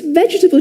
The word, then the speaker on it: vegetable: Three syllables, guys. Vegetable. vegetable. So the first parts you don't say veable or vegetable, you say vegetable, vegetable, vegetable. And um this may sound a bit u strange but this word is quite similar to comfortable. Remember comfortable where we don't pronounce the o r. So we say comable with vegetable something similar happens. We get three syllables.